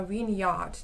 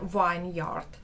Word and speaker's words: vineyard: Потім, оцей vineyard ми вимовляємо як саме vineyard, не vineyard чомусь.